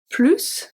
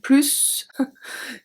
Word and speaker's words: plus: Obviously, I exaggerate the pronunciation of plus. I never talk with someone in French and saying plus. It's not how we say it, we just say plus.